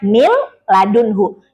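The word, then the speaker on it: من لدنه: Contohnya tertulisnya min ladunhu tapi dibacanya mil ladunhu. Jangan mil ladunhu itu kalau mil ditahan nanti jadinya gunah ya.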